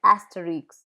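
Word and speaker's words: Astérix: Final consonants are pronounced in proper names, like asterisk.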